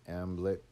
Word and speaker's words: Hamnet: death of his son hamnet a name which he probably pronounced as amlet was a green memory